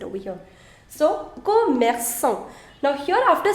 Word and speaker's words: commerçant: Now commerçant, the first one CO. The pronunciation is co. Co. You don't want to change the pronunciation from K to S. CO is co. You want to keep it K.